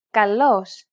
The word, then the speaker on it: καλός: This accent just indicates that you need to stress the syllable. That's it. Κάλος, καλός. Νόμος, νομός. Θέα, θεά. Notice how the accented syllables are emphasized? It's pronounced a little bit louder and longer than the surrounding syllables.